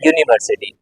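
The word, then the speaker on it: university: स्वर में आना चाहिए जैसे ये वर्ड है यूनिवर्सिटी इसमें आपने देखा यू जो है दिखने में आपको क्या दिख रहा है कि यह वल है लेकिन जब हम इसको हिंदी में लिखकर लिखेंगे यहां पर हिंदी के हिसाब से य या अक्षर जो है यह स्वर नहीं है और इसीलिए ऐसे केस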